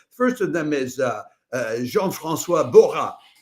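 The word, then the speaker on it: Jean-François Borras: First of them is uh Jean Franis Bha. That's how the French would pronounce that name and he is French.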